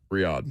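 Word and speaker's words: Riyadh: So the Royal Rumble this year will be in Reda. Is that how you say it? In Saudi Arabia. Is it Riad? Riad.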